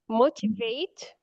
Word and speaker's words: motivate: The stress falls in the first syllable.